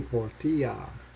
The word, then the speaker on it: Portia: Lady Portia. All violet energy. Next card I got. As a name is usually pronounced Portia, Portia, Portia.